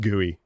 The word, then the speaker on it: GUI: Also, yeah, I just pronounced GUI.